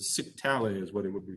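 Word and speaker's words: scytale: was actually called a cyctale it rhymes with italy so it's a sick tally as what it would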